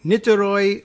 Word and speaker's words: Niterói: new to inter ah ni ter oh I with the accent over the Oh you know what as